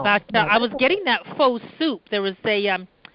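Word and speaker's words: phở: People say pho, but it's supposed to be pho. I got schooled. You pronounce it pho.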